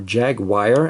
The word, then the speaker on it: Jaguar: Kind of looks like a Jaguar, or Jaguar as the Americans say.